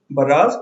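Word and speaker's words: barrage: Okay, next word is बराज। इसके pronunciation में ध्यान दीजिएगा।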